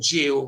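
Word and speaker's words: gaol: actual Street was called jail road and it was crazy it was the old spell it was the old spelling of jail it was g g a o l that's old English I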